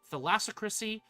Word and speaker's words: thalassocracy: relentless onslaught of the Rotano Sea, lies the thalassocracy of thalassocracy? Theocracy. Thalassocracy. Thalassocracy. There we go. Figured out the pronunciation.